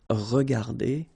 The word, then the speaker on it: regardées: Remember that we don't pronounce them, so you will get phonetically regarder and then here the same form regarder. Okay, so you don't pronounce anything after your e, but still you should